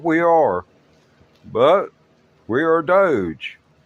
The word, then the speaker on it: DOGE: are, but we are Doge. I know it is spelled D-O-G-E. It could be doggy, but we don't want to go there, especially not with His Excellency, Mr.